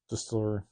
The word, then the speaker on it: DSTLRY: was that the publisher DSTLRY, Mhm. or alternate pronunciation, Distillery.